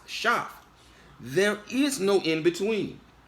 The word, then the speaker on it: Seth: Either by extension now we are descendants of Cain, or we are descendants of Seth, which is properly pronounced Shaph.